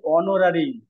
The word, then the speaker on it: honorary: আর এটার উচ্চারণ হচ্ছে অনোরারি।